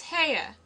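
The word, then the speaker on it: Haigha: happy his name is hair he pronounced it so as to rhyme with mayor I love my love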